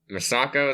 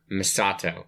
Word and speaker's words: Misato: are on how great masako is that i actually say her name i kind of stopped caring after a while misato misato there's no k yeah masato they're like